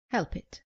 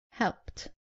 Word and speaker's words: helped: Common mistake, saying help it. It is helped.